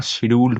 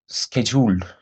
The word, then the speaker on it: scheduled: এবার তোমাদের আরেকটা জিনিস বলে দিই, এটা হচ্ছে, এটাকে আমরা শিডিউল্ড বলি, কিন্তু অ্যাকচুয়ালি এটা শিডিউল্ড না, এটা স্কেজুল্ড। ওকে, প্রোনাউন্সিয়েশনটা স্কেজুল্ড। ওকে, নেটিভ স্পিকারটা এভাবেই বলে।